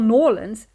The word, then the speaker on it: New Orleans: around the jogging track the journey back to New Orleans or New Orleans as the locals pronounce it was a nice smooth one and